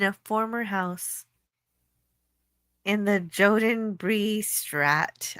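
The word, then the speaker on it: Jodenbreestraat: former house in the Joden Bree Strat. I don't know if I pronounced that right. In the center of Amsterdam. Yoden Bree Strat.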